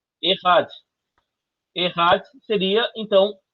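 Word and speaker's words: אחד: Como é que pronuncia isso aqui, ó? Errad.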